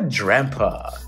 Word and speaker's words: Drampa: And then we have a Drampa. Rhymes with Grandpa.